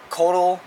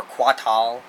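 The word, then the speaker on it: Kotal: then katana I'm sorry kodel or quat hall if you want to say it like reptile khan and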